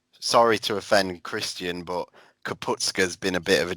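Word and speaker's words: Kapustka: What really frustrates me is, if you just read it phonetically, the S clearly comes before the T, yet people insist on saying ska. It'll be STKA, not TSKA.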